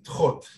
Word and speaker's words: Thoth: You know, the name Thoth, the correct pronunciation, the ancient Egyptian pronunciation is Thoth.